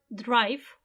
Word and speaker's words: drive: time we are driving the verb Drive finishes in the letter e but the letter E the sound e is not pronounced it's mute because of that that